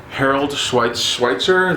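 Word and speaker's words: Harold Schechter: Harold Schweitzer, that's how you say his name, who wrote the Serial Killer Files.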